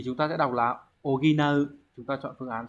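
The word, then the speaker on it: 補う: Thì chúng ta sẽ đọc là oginau.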